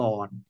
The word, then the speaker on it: กรณ: เป็น ภาษา ไทย นะ ถ้า บาลี ก็ คือ กรณะ นะ ครับ กรณะ ถ้า บาลี ต้อง เขียน แบบ นี้ นะ กรณะ นะ ครับ ถ้า เป็น ภาษา ไทย ก็ อ่าน ว่า กอน นะ ก็ กระธาตุ ยุ ปัจจัย